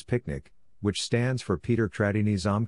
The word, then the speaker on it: PQNK: also referred to as pqn K pronounced as picnic which stands for Peter